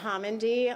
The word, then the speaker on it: Homendy: to okay good evening um NTSB chair Jennifer homy will be briefing you the last name is spelled h o m n d y chair good evening uh again my name is Jennifer homendy I'm chair of the national Transportation safety board